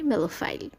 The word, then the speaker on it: Melophile: সংগীত প্রেমী যিনি সংগীত ভালোবাসেন তাকে আমরা ইংলিশে বলতে পারি মেলোফাইল।